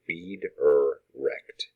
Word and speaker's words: Wiedericht: My last name is pronounced Wiedericht, and you can also call me or Mr. or Professor or Hey You. And notice phonetically it's W-E-E-D, but it is actually spelled W-I-E-D, period.